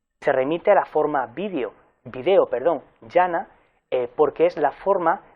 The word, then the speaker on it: video: Latín, la forma era también esdrújula, se pronunciaba video. La razón era porque la E era breve, estaba en una sílaba abierta y el acento recaía en la antepenúltima sílaba, por tanto, en la I.